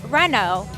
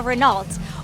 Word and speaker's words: Renault: is one of them this is a Renault Not A Renault what is your least